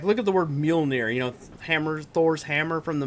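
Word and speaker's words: Mjölnir: look at the word Mjolnir, hammer, Thor's hammer from the Marvel movies. If you look how it's spelled, there's like random like J's and R's in there, and they're silent, and I'm like, where?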